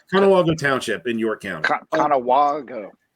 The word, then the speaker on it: Conewago: Conewago. Yeah, it's a soft A. Yeah. Rhymes with Chicago.